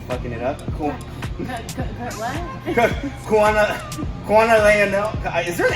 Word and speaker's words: Kahaunaele: You want to pronounce it for me because I've been fucking it up? Cool. What? Kahaunaele. Is there an N in there? No, there is. It's Kahaunaele.